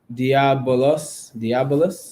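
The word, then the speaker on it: diabolos: It's pronounced diabolus.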